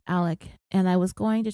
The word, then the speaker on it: Alex: I just call him Alex it is really tripping me out how his name is spelled Alex but we're calling him Alec and I was going